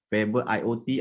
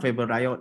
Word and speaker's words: Favoriot: slightly different but with the right way to pronounce it would be favorite favorite iot or favorite not favorable riot or february so there's a wrong way to